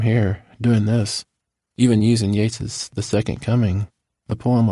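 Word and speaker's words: Yeats: embarrassed for me chuckles, I pronounced his name Yates, not Yates. Jill, you probably don't remember this. Instead of telling me to get my greasy head off your clean chalkboard, you just grin to get your words right. Instead, you're pretty sure it's pronounced the other way, Steven, but yes, it does look like eats.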